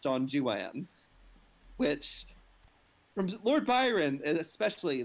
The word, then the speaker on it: Don Juan: know that within the it is not pronounced don juan because the rhymes don't work if you pronounce it that way it's pronounced john juan which from lord byron